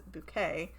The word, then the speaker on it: Bucket: we've got um so her last name is spelled like a bucket but she repeatedly pronounces it as bouquet and oddly enough all